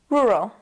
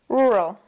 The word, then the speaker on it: rural: doing this to you the r sounds do make the words difficult and this one especially in the first syllable we have R and then in the second we have a r and of course there's a schah in the second syllable it's very fast you have to be kind of fast with it so say it with